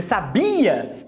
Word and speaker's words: sabia: Só que quando eu vou perguntar se você sabia, eu jogo a tônica no I. I, sabia.